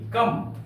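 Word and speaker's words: comb: क्या कहीं कहीं पर एम के बाद बी आए तो बी का उच्चारण नहीं होता है एम के बाद बी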